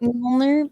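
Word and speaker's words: Mjölnir: Mjolnir. Like mule, like a donkey. Then yes. Mjolnir. Okay, that's totally not spelt that way. No. Mjolnir. All right, I can do that. Mjolnir.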